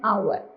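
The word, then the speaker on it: hour: होते हैं, जैसे एन आवर, एच से शुरू हो रहा है कॉन्सोनेंट वर्ड से, लेकिन जब हम प्रोनाउंसिएशन करते हैं तो एच साइलेंट होता है, तो साउंड आती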